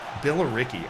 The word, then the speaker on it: Billericay: Billericay. I would not have guessed it was Billericay. That sounds like an accidental... Oh. It sounds like an accidental American pronunciation of the word.